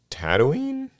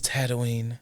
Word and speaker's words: Tatooine: With the launch of Star Wars Unlimited approaching the horizon like the binary suns of Tatooine? Yes, it's Tatooine. Oh, I said it right the first time.